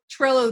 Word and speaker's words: Trello: The only thing I'll say is what I really like about Trello is it rhymes with jello and I love jello.